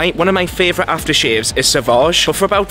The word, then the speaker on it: Sauvage: I was like, oh, do you have Savage? And she was like, Sauvage. I was like, ah, so that's how you say it.